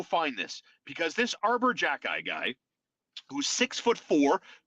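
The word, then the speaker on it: Xhekaj: jack guy you know how you spell this guy's name i have to write it down x-h-e-k-a-j and apparently it's pronounced jack-ey this guy this guy arbor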